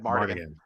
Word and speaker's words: Mardigan: Sad Mardigan. Mardigan. 4 syllables.